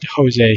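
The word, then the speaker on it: José: cannot do that maybe it's because i told jose his name wrong everybody says my name wrong everybody calls me rosie i'm not i'm jose so yeah jose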